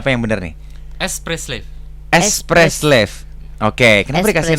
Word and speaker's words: Espresslave: Boleh bacanya apa yang benar nih? Express Slave.